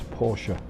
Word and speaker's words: Porsche: Plymouth, Polaris, Pontiac, and 90% of people get the name wrong. Call it Porsche. It's not Porsche, it's Porsche.